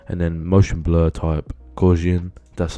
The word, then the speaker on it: Gaussian: And then motion blur type, Gaussian, that's how you pronounce it.